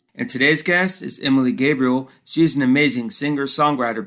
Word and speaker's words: Gabriele: talented singer-songwriter out of new york city emily gabriel how are you doing this evening oh gosh sean you nailed the pronunciation of my name so we're off to